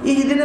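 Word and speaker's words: اهدنا: তাইলে আবার উল্টা হয়ে যাবে ছোট বড় হাদি ইহদিনা মানে হে আল্লাহ তুমি হিজাব দান করো আর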